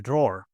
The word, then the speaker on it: drawer: a drawer be careful in British English we don't pronounce the e at the end so we say draw here we have my